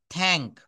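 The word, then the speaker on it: thank: টি এবং এইচ একসাথে থাকলে থ উচ্চারিত হয়।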